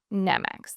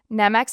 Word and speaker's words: NX: young and his company NX NX NX that's how you say it it's called NX Enterprises